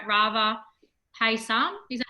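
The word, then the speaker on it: Payasam: Yes, we're making hopefully I pronounce it right, Rava Paisam. Is that how you pronounce it? Paisam. Paisam, thank you.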